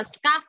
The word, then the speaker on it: scarf: Con đọc là car, đúng không? Con đọc gần rồi, con đọc là car. Trong khi từ kia là scarf.